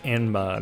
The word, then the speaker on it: Enma: That anima guy is strong as balls. In the past, It's King Enma, not Anima.